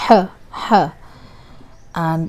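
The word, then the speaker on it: ح: H. And this is how it's pronounced. But mainly, like, native speakers don't put a lot of effort into it. You can just say ha as well.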